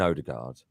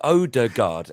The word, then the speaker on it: Odegaard: Yeah, but Odegaard. I mean, it's 3 syllables.